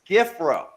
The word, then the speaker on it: Giffrow: a special guest chris giffro did i say that right you did and you nailed it it's pronounced exactly how it's spelled so awesome and uh